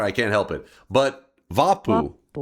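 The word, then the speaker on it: Vappu: It is vapu pronounced vapu."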